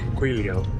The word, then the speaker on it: Guizhou: Guizhou, that's how they say it.